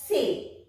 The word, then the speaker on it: ce: It is pronounced as say.